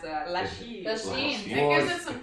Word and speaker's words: Lachine: I Because, like how you pronounce that. Lachine.